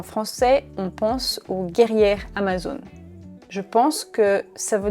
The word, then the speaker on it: Amazon: Prononciation. Amazon. Amazon. Amazon. Ok. Amazon. Pour moi, c'est Amazon. Ça sonne assez différent quand même. Quand on dit Amazon en français, on pense aux guerrières Amazon.